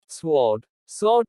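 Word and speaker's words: sword: W is silent before R or in some words. जब W R के पहले आता है या कुछ अन्य शब्दों में तो W का उच्चारण नहीं होता।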